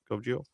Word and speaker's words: Cove Geo: Navy veteran and the founder of Cove Geo. Is how you say it? Cove Geo. Yep. Okay, cool.